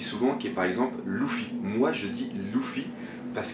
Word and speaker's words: Luffy: Pour moi ça se prononce Luffy.